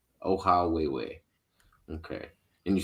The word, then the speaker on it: Ohawhewhe: your name but uh how do you pronounce it oh way way oh how way way okay and you said